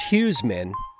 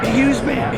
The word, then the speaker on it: HughesMan: make and actually guys it's not pronounced huesmen it's pronounced a huge huge man a huge man a